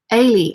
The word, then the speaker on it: Elida: Nicola M says, my daughter's name is Elida, pronounced like Haley without the H. Ailey.